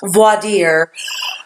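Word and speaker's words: voir dire: An opening statement, it's your first contact with the jury where you're not voiring or I'm sorry, it would be pronounced voadier. Um, you know, you're not voading them.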